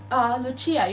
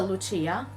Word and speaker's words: Lucia: chat, and he said, Lucia, you had a question. And I was like, all right, he's a Lucia. I should tell him that it's not pronounced like that and it's pronounced Lucia, but we don't have time.